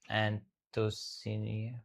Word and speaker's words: Anthocyanin: Your tongue turns blue or purple when you eat jamun because of a natural plant pigment called how do you pronounce this? Anthocyanin.